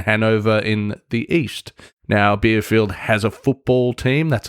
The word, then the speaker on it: Bielefeld: story about a city in Germany called Bielefeld, pronounced Bielefeld.